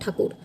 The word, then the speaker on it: ठाकुर: सो इट is Rabindranath ठाकुर बट ये रवींद्रनाथ टैगोर कैसे हुआ तो जो ब्रिटिशर्स थे ना वो मिस प्रोनाउंस करते थे ठाकुर को as Tagore and with time यही पॉपला हुआ